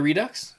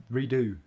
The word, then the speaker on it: Redux: the Redux. Yeah, I don't have redo. It's But- not Redux. No, The X is it's silent. French.